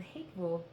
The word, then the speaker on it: Hatevol: and one was called Hatevol. It's the word hate and the word love backwards, and it sounds like the word hateful.